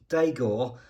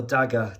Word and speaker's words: Dagor: And here we have a Polaris Dagor or Dagger, depending on how you pronounce it, A1 light mobility vehicle.